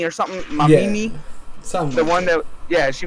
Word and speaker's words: Mamimi: It's like Mama Mimi or something. Mamimi.